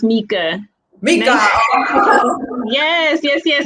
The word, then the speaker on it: Mica: sandra hauregi schwapitz and today our guest is micah welcome micah how are you today good good good good it's it's nyca but it's pronounced mika mika yes yes yes how are you doing